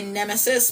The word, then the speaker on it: Nemahsis: As somebody with, like, pretty extreme anxiety, oh, this song is, Stick of Gum by Nemesis, but it's spelled Nemahsis.